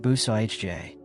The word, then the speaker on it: bouzillage: The early Acadian builders used a technique called bouzillage, pronounced bou-sa-ij-jay.